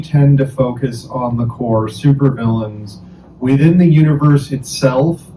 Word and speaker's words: Korps: Korpse. Uh k o r p s Um Uh is how it's spelled, but it's pronounced Corps, like the Marine Corps.